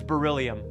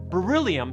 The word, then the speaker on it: beryllium: Beryllium starts off sounding like brrr, like you're cold. And as a whole, beryllium rhymes with the name William.